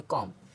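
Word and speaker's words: calm: के इसको पढ़ेंगे टॉक और अगर एम से पहले आया तो सी ए एल एम है तो एल साइलेंट है तो इसको पढ़ेंगे कॉम आगे एम एम एम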